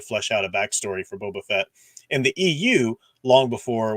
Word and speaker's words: Boba Fett: this and I do I always mispronounce this when I'm just talking quickly quite often I'll say bubba Fett instead of Boba Fett Bubba Fett but I don't know